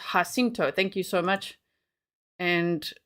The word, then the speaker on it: Jacinto: Lizzie Jones says San Jacinto is Spanish, so it's pronounced Jacinto.